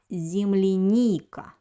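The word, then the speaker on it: земляника: don't have an accent the accent falls on the third vowel in this word it's letter e so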